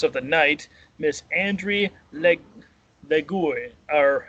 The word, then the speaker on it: Lagiou: So, without further ado, please help me welcome the mistress of the night, Miss Andry Lagiou, or how do you say your last name? Lagiou.